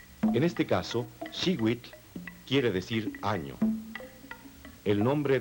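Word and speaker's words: xihuitl: Cada cuadrete contiene el color turquesa que se pronuncia. En este caso, Shewit quiere decir año.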